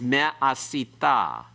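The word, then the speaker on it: מֶה־עָשִׂיתָ: It's me'asita.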